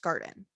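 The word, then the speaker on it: Garton: it's pronounced guard or it's spelled garten g-a-r-t-o-n but it's pronounced garden garden garden yeah uh the so the trials began in 2011.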